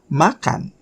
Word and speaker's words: makan: Make sure you put your lips together. Kan. Kan is sort of like glottal sound, like at the back of your tongue. Kan, makan, makan.